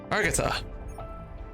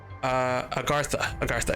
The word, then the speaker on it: Agartha: Argatha. You already know that Agartha. It's pronounced Agartha, yeah.